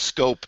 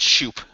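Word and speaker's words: Schoop: explain to me why the last name SCH 00 p is pronounced scope and not shoot it doesn't ask me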